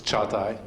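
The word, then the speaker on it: Çağatay: My name is Cagatay. I have a name with a, it's hard to pronounce, it's Cagatay, so don't worry about the surname.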